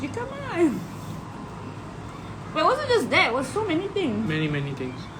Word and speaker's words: jicama: don't know, because he kept pronouncing his jicama as jicama, and I told him it's jicama because it's Mexican, right?